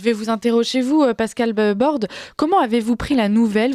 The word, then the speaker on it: Bordes: nos deux invités Pascal Bordes député rassemblement national de la 3e circonscription du gare bonjour madame bonjour alors mon nom se prononce bord bord excusez-moi je prononce